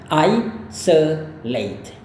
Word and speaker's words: isolate: Kita lebih tekankan pada I-nya, ya, yang ini. Jadi isolate. Isolate. Selengkapnya adalah isolate.